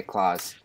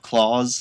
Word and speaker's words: Klaus: I always have pronounced it Klaus too. I didn't think it was very American, so I made the conscious choice to say Klaus on the podcast. Just so you know, instead of claws.